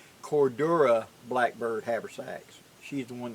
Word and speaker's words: Cordura: makes my Cordura see I said it right Cordura Blackbird haversacks she's the one that makes them